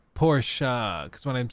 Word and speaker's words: Porsche: Well, it's pronounced Porsche. Porsche. It always reminds me whenever I say Porsche, because some people say Porsche, some people say Porsche,